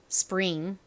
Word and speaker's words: spring: 나 으니까 링 요렇게 읽어 주셔야 돼요 자 발음해 볼게요 Spring 한 번 더 해 볼 건데요 또 하나